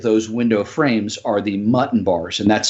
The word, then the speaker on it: muntin: the mutton bar sizes on your existing and how they're configured as well.